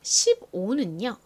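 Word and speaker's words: fifteen: F가 단어의 가장 앞쪽에 올 때에는 세게 F 소리가 나지만 이렇게 중간이나 끝부분에 올 때에는 보통 약하게 F 정도로 바람 빠지듯이 소리가 납니다. 그래서 읽어보면요. 15 이렇게 발음이 돼요. 이 두 번째 F는 별로 존재감이 없죠.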